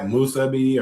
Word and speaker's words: musubi: Musubi, or how you say that?